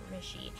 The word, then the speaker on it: Rishi: So I think that it's pronounced Rishi, so When Dimple Met Rishi, and Rishi is so cute, and I love